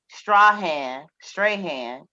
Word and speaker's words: Strahan: Strahan.